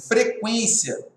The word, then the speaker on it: frequência: Frequência, aqui não tem dígrafo, porque o U é pronunciado, só seria dígrafo se a pronúncia fosse frequência.